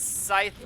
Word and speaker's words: scythe: bat could hit him somebody says scythe rhymes with life not with okay I